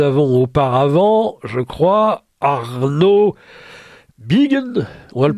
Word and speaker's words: Biegun: Alors oui, rectification, mon nom c'est Biegen et voilà. Ce qui est marrant, c'est que vous le prononcez à l'allemande et ma femme est allemande, c'est très bien et elle le prononce très bien par contre.